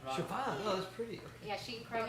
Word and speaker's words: Siobhan: The BH is always pronounced like a B in Irish. Do you want a fun fact? Wait, say that again. A BH in Irish is always pronounced like a B sound.